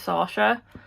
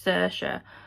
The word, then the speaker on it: Saoirse: So her name's Saoirse, but literally within the first 2 pages...